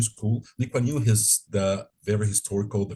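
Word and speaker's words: Lee Kuan Yew: other name that you asked me Linda to pronounce it correctly which is the Lew new school this is where I got my second masters from from it was on public administration uh the liwanu school leanu is the very historical the very well-known Singaporean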